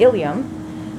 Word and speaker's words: ilium: All right, then the last and largest part of the pelvic bone would be the ilium. Remember that ilium is spelled with one L.